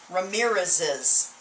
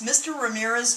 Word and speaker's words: Ramirez's: to look like this ramirez is see what happens ramirez is i add another syllable anytime i'm manning s to a word that ends in s or c and by the way